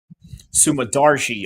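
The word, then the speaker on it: Sumudaerji: Sumadargi. Okay, that's the best way to pronounce his name.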